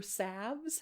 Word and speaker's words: salves: So, first of all, honey prevents wound uh infections and it's found in many salves or savves, however you want to say it. Do you pronounce the L?